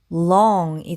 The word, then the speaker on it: long: 이 단어는 여기 ONG는 똑같죠. 그래서 ong 이렇게 되는데 여기 앞부분이 L 소리 L 발음이 돼서 이 단어는 long이 됩니다.